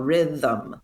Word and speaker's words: rhythm: But yeah, that thm, it's a two-cllable word. There's no doubt about it. We don't say rhythm, right? Like there is a second vowel, rhythm. One, two. And the 'the' syllable has a schwa vowel and no other actual traditional vowels.